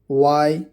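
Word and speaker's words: why: एच, जब एच से पहले डब्ल्यू आता है तो एच कभी कभी साइलेंट होता है। एग्जाम्पल देखिए, व्हेन मतलब कब, वाई मतलब क्यों, वेयर।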